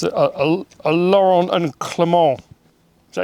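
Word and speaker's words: Laurin & Klement: It's a Laurent and Clement. Is that how you say it? Big brakes. Yeah. Like Laurel and Hardy, but Laurel and Clement.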